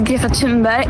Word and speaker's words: Thunberg: My name is Greta Thunberg and I am from Sweden. Well, firstly, we've all been saying it wrong. I mean, I had no... That's an unsayable sound.